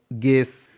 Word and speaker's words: guess: GUESS, गेस, यहाँ पर भी GUE है इसलिए यू साइलेंट है।